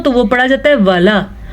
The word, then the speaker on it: وَلَا: اگر سادہ لام ہو تو وہ پڑھا جاتا ہے وَلا. یہ بھی اکثر لوگ سادہ وَلا پڑھ لیتے ہیں. الف مدہ کے ساتھ لام ہے تو ہم اس کو پڑھیں گے وَلَا تَجْعَلُوا.